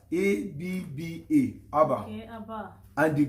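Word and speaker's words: אבא: If you check very well, the Hebrew word for father is written as AB, but pronounced as ABBA, Abba.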